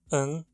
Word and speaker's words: en: A pronúncia é como um schwa, /ə/, seguido de um N, /n/. Ou muitas vezes é tão reduzido que se consegue escutar apenas o som do N.